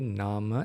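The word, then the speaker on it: nāma: In Sinhalese pronunciation, we call nama rupa. In English, International Pāļi, we call it nama and rupa. Okay, because the A is not closed; it's open.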